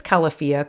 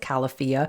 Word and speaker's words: Califia: califia I think it's califia cuz I think the idea was that it's California so it's pronounced califia anyway they hazelnut creamer